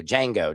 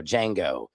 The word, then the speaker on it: Django: You don't pronounce the D in Django. Thank you. Django. Django.